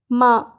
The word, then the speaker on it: mar: Next word है माँ, जिसकी स्पेलिंग है MAR। यहाँ पर आ साइलेंट है इसलिए इसे माँ बोलेंगे, जो कि एक वर्ब